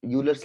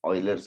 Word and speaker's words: Euler: ये यूलर्स line is what usually people call, but it is actually pronounced as Euler's line.